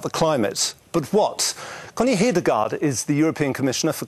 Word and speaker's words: Hedegaard: Well, in Danish, Connie Hedegaard, but nobody can say that.